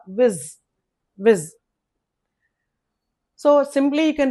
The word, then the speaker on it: vis: pronounced as v ez viz okay in spelling it is yes but is in pronunciation it is z viz viz so simply you can Remember we know think of the video.